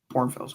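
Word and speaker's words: New Braunfels: Just say Bourne. That's how pronounced. Bron Bournefells. Yeah, Bornfells.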